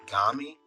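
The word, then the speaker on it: 髪: The element Kami hair is the homophone of the Kami spirit, both pronounced Gami in compound words.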